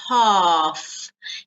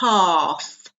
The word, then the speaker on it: half: half notice the pronunciation we don't pronounce the L so long a so it's half here you can see that the two dots that means it's a long sound half not half so less